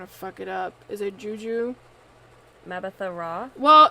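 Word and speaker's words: Mbatha-Raw: up is it juju mabatha raw well when it's like this you don't pronounce the m and i only know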